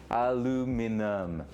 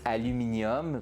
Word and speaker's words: aluminum: two of Grease home aluminum no there's no I at the end right aluminum there's no I at the end it's aluminum and notum right cuz in French it's aluminium the way you wrote it you write it there but it's aluminum